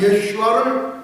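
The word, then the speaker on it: ישוע: 주의 이름을 부르는 자는 구원을 얻으리라 아멘 누구든지 예슈아의 이름을 부르는 자는 구원을 얻으리라 아멘 할렐루야 누구든지 예시의 이름을 부르는 자는 구원을 얻으리로다 7만 명의 이집트인이 모여서 10분간 예슈아를 외치는 감동적인 장면 다음 웹사이트에 들어가시면 보실 수가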